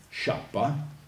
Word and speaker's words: Schiappa: classici, un certo Edward Schiappa, dico Schiappa perché la pronuncia è inglese, in italiano il suo nome è Schiappa, che però in italiano sai, è meglio che lo pronunciamo all'inglese, Schiappa, che come me, questo studioso,